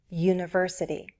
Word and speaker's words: university: "University" begins with the letter "u," but I pronounce that with a /y/ sound. University.